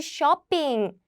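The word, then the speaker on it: 쇼핑: And also you can do shopping. This is how Korean people pronounce shopping.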